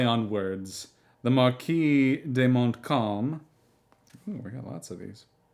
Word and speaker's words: Montcalm: Marquis de Montcalm, the ultra-royalist Marquis Decadent de Montcalm, pronounced Montcalm, my calm, 1775 through 1857.